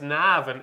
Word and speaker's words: Navan: And very quickly, the Irish Cesar, which is at Navan this year, my local track, pronounced Navan if you're from Navan. It's a couple of A's.